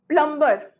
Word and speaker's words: plumber: not calm it's calm whenever you are using MB B is silent succumb plumber voltage is at times